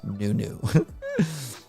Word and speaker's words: Nuno: be a manager and yes his name is pronounced as nunu but this was a recurrent bug since